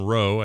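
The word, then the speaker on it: Roux: This is coming this time from author Madeline Rowe, I assume is how you say her last name, R-O-U-X.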